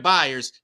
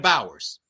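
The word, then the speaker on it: Byers: from Leno Ry that called Jada buyers Jada Bowers Jada buyers name is spelled b y RS where do you get Bowers from that oh how where is the O in that man's name for you to call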